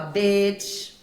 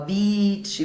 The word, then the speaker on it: beach: Pagam esses micos de falar bitch, quando quer falar beach, e por aí vai.